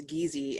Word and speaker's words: Kizi: It's spelled Kizi with K, but it's Gizi.